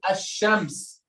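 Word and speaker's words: الشمس: lamb in the word hashems the lamb in the word hashems is silent or not who can tell me it's silent it's silent how did you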